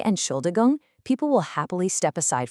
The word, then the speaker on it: Entschuldigung: we just break it down carefully, syllable by syllable. Let's do this together, nice and slow. Ent- schul- di- gung.